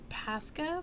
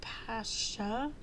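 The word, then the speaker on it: Pascha: want to say it's Pasa but it could be Pasha but um I want to say it's Pasa because it's p a s c h a um organic very dark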